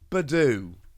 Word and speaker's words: Budew: good old chat about Badu which yes is a correct way to say it and the reason is